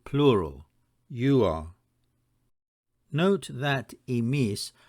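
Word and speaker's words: ἡμεῖς: Note that emis spelt with an eta is pronounced the same as emis spelt with an ypsilon.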